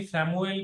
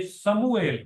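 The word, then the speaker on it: سموئیل: हम इसे उर्दू में भी सेमुल कहते हैं। हालांकि ये समुएल नहीं है। ये समुएल है। इसका जो सही तलफुस है वो समुएल है।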